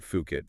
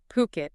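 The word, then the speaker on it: Phuket: And remember, that's always pronounced Puket, not Fukit. Good point. Yeah. Puket.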